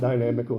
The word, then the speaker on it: dynamical: This is because weather is inherently what we call a dynamical system. D-Y-N-A-M-I-C-A-L. Dynamical. Not dynamic, dynamical.